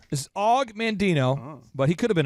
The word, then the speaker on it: Og Mandino: Is it not pronounced OG Mandino? This is Og Mandino, but he could have been an OG.